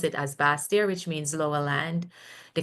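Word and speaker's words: Basseterre: is French term meaning for baser but we pronounce it as bastia which means lower land the capital of nevas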